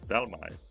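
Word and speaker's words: Dhelmise: Um, Delemsi? Delmice? Delmice.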